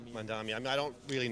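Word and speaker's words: Mamdani: Yeah, Mandami. Mandami.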